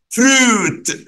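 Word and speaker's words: fruit: فروت، عارفين ايه اللي بيخلينا نقول فروت؟ اليو اي دي بتتنطق او، عشان كده نقول فروت.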